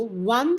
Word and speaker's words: one: Although one starts with O, but it is pronounced as like it starts from V, which is a consonant. So since it starts with a consonant sound, I choose A as my correct answer.